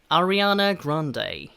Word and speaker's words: Ariana: 아리아나 그란데라고 하는 이름은요, 영어로 이렇게 발음합니다. Ariana Grande라고 발음합니다.